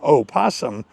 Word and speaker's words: opossum: So as a native English speaker, it's not a crazy idea that the O in opossum could be deemed silent. It isn't, but we could assume